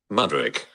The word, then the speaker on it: Mudryk: pronounce his name again uh how do you pronounce his name again madrik madrik um they're expecting a figure around 30